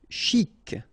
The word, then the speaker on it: chic: Chic, okay, you pronounce the final C, and then CH together, sh, chic.